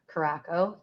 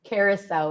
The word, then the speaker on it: Carousel: mist with vodka blue i don't know how you say that word karako carousel carousel is the right way to say it and otawa lemonade which